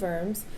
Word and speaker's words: Worms: It was called the Synod of Worms. It's not worms, it's Worms. It's German. It's spelled like worms, though. Now, this meeting had nothing to do with squirmy little worms that live in the ground.